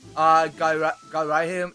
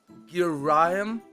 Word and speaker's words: Girahim: his name was not Garahim. His name was pronounced in Girahim.